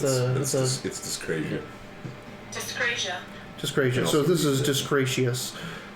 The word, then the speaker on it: dyscrasia: So with 1, you get 1 to 3 vessels with random resonance and no disgracious.